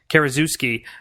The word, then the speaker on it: Karaszewski: mispronounce his last name, Karaszewski, I believe it is pronounced, and who I am a big fan of both of them when they team up.